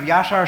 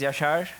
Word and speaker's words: Yashar: My name is Yashar and I'm from Turkey. If you're not pronouncing it correctly, it doesn't matter. You can call me as Yasha or what you want to do.